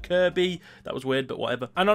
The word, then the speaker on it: Kirkby: And this fascinated me, so I decided to head up to Kirby Stephen, which is spelt Kirkby but said Kirby.